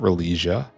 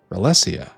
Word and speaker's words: Ralesia: Not religia. I suppose it could be either one, right? But Rlesia seems better. Rellesia. Relissia. Rlesia. I've been pronouncing it wrong for well over a thousand hours.